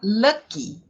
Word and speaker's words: lucky: Até essa palavra, olha só, essa palavra lucky, que termina com Y, ela tem que ser muito bem pronunciada com a letra I. Por quê? Porque existe a palavra luck, que termina L-U-C-K, né?